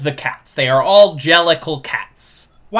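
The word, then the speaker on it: Jellicle: It's a port manto of a cochney accent saying dear little cats. Jellical cats.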